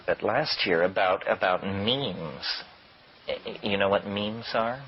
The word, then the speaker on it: meme: last year about about memes you know what memes are memes are the smallest units of a concept and they're like genes the word is deliberately constructed to rhyme with gene and so when i